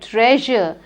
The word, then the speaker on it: treasure: your hint is that this word has the sheer sound the last one it rhymes with measure pleasure yes very good treasure treasure chaotic a collection